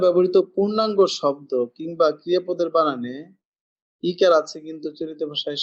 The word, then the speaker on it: বন: বন আসলে হবে বোন।